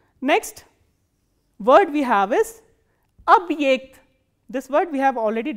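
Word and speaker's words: объект: And this ye is pronounced as the combination of these two sounds, e kratke and a.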